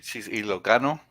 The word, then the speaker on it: Ilocano: She's Ilocano.